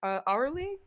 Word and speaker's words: Aurely: Uh, she is a Teling divine sorceress uh, from the land of uh, uh, Arley. Arley, is that how it's pronounced?